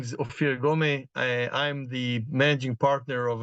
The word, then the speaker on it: Ofir Gomeh: others so as you were saying rightfully and pronouncing rightfully my name is ofir gome I'm the managing partner of a rather small